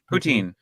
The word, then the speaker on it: poutine: Is it pronounced poutine, by the way? Poutine.